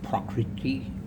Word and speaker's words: prakriti: Shankara elucidates that Vyasa's exposition of the material world, which is prakriti, is sometimes pronounced sort of like property. Prakriti is really, I believe, the exact pronunciation.